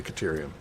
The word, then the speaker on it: cerium: quick cerium CER Kum I think it's cerium I'm going to say cerium put the emphasis on the second salival okay so I need a